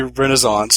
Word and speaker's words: Renaissance: The Disney Renaissance, to pronounce it correctly.